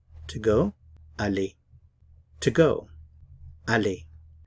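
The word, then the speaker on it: aller: Ali to go Ali to help you remember the verb Ali to go in French think of the word Ali in English the word Ali is actually from the French word Ali which is a form of the verb to go and an Al in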